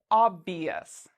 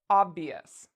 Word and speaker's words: obvious: It's not one of our special letters, which means we pronounce it ious. Obvious. Obvious.